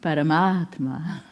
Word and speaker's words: Paramatma: Say Parama Atma, Parama Atma, Paramatma, Paramatma. It happens in the mouth.